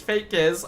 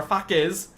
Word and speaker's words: Fekys: BTR because yes, he This is not Faker. This is Fekys or Fakys.